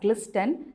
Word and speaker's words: glisten: You can write down as G-L-I-S-T-E-N and you can read this as glisten. You don't read it as glisten. The T is silent there, so read it as glisten.